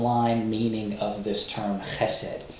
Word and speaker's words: chesed: And so the way you pronounce that is chesed, chesed. Che, gotta get that guttural in there. Chesed. You could put it in English as H-E-S-E-D. And so it's from left to right. So chesed is the way that you pronounce that word, chesed, and it gets translated